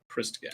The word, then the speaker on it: Christgau: People often mispronounce the last name, but it is pronounced Christgau.